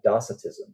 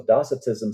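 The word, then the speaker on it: docetism: defended the apostolic teachings against things like like dosetism. So dossatism said that or maybe it's pronounced dosatism but it said that basically uh Christ didn't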